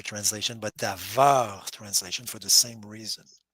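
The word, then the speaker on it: דָּבָר: So it's the reason why it's not the Dabar translation, but Davar translation for the same reason.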